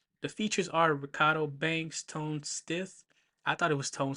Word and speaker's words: Tone Stith: The features are Ricardo Banks, Tone Stith. I thought it was Tone Smith, but it's Tone Stith. It sounded like I said it with a lips, but it's not. It's Tone Stith, not Tone Smith.